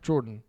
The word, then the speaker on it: Jordan: No, Jordan. No, it's Gordon. No. Pretty sure it's pronounced Gordon. It's not Gordon. Yeah. It's a soft G. J.